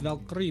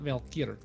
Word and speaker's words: Valkyrie: to say my name it's Valkyrie not Valk she she what the